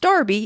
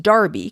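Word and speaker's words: Enroughty: family with their names spelled in rufty but pronounced darby in virginia though they offer yet a new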